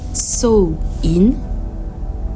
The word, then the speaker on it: Samhain: et de la Renaissance Samain signifiant fin de l'été en vieil irlandais prononcé so in est l'un des quatre